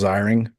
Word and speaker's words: Ziering: Excuse me, it's Ziring.